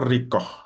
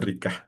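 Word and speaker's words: رقة: Wahau shodqotar riqoh. Riqoh ya bukan rikah pakai qof.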